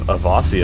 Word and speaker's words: Awasy: But yeah, we have Awasy, as I was told it's supposed to be pronounced, spawning in as the